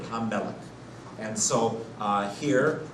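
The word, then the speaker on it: הַמֶּלֶךְ: We have the king, but there'd be Hamelech, not Ham-Melech or Hal-Melech, but in their pronunciation, they merged that into one word, Hamelech.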